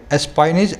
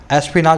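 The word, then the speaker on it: espionage: सेनाओं में एसपी नाश इसको स्पाइस पता नहीं कुछ बोलते हैं मीडियम वाले स्पाइनस ऐसा मत बोलना एसपी नाश होता है इसका मतलब है जासूसी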